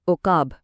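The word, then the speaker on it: عُقاب: دونوں بدل دیتی ہیں۔ جب ہم پیش استعمال کرتے ہیں تو یہ بنتا ہے عقاب یعنی ایگل، لیکن اگر زیر استعمال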